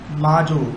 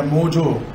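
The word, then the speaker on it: MoJo: माजो या मोजो, ठीक है, मोजो, माजो भी बोल रहे होते हैं, ए को ओ से प्रोनाउंस कर रहे होते हैं, बट मोजो ज़्यादा सही लगेगा आपको।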